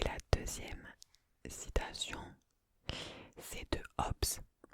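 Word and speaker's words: Hobbes: deuxème citation c'est de HS HS ça s'écrit h o b b e s il nous dit c'est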